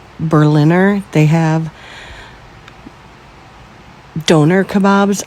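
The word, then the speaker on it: döner: They have doner kebabs. I had to think it rhymes with boner.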